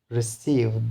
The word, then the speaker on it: receive: For example, we have a word receive, there is a verb, right? Receive. So the stress will be on second syllable.